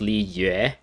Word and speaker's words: Liyue: i understand is pronounced li yue and so instead of l i y and then u e as like the other syllable it's l i is one syllable and u e y u e is the other